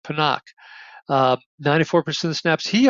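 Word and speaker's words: Pinnock: the game uh Jason panak who I've been pronouncing pinck but apparently it's pronounced panak um 94% of snaps he also had a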